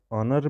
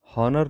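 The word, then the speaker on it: honour: और विच letter is silent in word ऑनर, तो यहाँ पे ऑनर में एच को साइलेंट रखा जाता है और ओ से स्टार्ट किया था पढ़ना, तो ऑनर पढ़ रहे हैं हम, हॉनर नहीं पढ़ते हैं।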